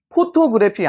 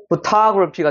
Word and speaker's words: photography: 포토그래피 아닙니다. photography가 되는 거예요. photography. 여기가 으 사운드, 여기 으 사운드, 여기 아 사운드, 다시 으 사운드.